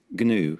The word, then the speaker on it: gnu: song about which animal permanently altered the British pronunciation of its name emphasizing its initial G it is also known as the wilderbeast G yes now start the